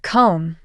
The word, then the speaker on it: comb: with the knife next the silent B in words like comb climb and thumb the B isn't pron anounced I need a comb for my hair he